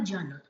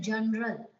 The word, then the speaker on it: journal: time I have seen people are speaking pronouncing this word as general it is not General our sound has a weak sound you have to drop the sound of letter r it is Journal work on the pronunciation